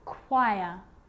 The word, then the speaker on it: choir: occasions it's not pronounced the h is silent so it's choir choir echo echo with